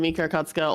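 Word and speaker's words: Mika Akatsuka: Hi, I'm Mika Kotsuka, or if you don't know how to pronounce it, Mikaede. But just say Mika, it's easier.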